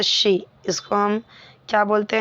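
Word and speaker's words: Xi: The name ji in Chinese is pronounced as शी.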